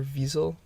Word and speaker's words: Wiesel: saying but night 2 by Elie Wiesel or visa if you want to say it properly talks about his experience